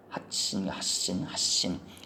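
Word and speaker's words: 発疹: 그래서 마마진 그래가지고 발진 그러면은 핫신 이게 원래 핫즈가 발음인데 발이 요런 게 오면은 이게 발음이 이렇게 바뀐다는 거예요.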